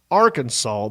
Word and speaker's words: Arkansas: It stated that the state's name would be pronounced Arkansas but spelled Arkansas.